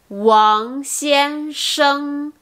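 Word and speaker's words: 王先生: Ok, n'oubliez pas, dans les ANG, ENG, ING et ONG, le G ne se prononce pas. Donc c'est Wang Xiansheng, Wang Xiansheng, au lieu de Wang Xiansheng.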